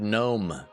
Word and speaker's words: gnome: It's like the word gnome. There's a G. Why is there a G there? It makes no sense whatsoever.